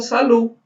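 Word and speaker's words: salud: Pelo menos eu, quando estou falando com meus amigos, assim, não é nada formal, eu falo salu. Salu. Só, simplesmente, sem o D no final.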